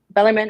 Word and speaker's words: Bellarmine: The first one up is going to be the ASUN Conference Championship with Jacksonville versus, is it Bellarmine? I don't want to say it wrong. Bellarmine.